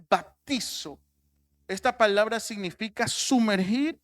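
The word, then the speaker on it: βαπτίζω: palabra griega que que dice o o se pronuncia baptizo esta palabra significa sumergir o teñir baptizo por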